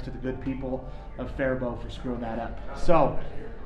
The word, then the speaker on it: Faribault: now i apologize to the good people of faribault for screwing that up so before we get